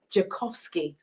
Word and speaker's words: Dzikowski: you're just joining us we have daniel daniel pronounced your surname for me jakovsky i was too scared to say down here